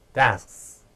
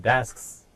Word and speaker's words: desks: 그 다음에요, desks. 일단은 K가 살짝 발음된다고 그랬죠. Your desks in the way. Your desks, 이렇게 된다고 그랬죠.